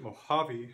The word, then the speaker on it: Mojave: Notice that this word Mojave has that sound H in English, but it is spelled with a J, so we have to be careful in English especially that words may sound the same, but they may spell the sound differently.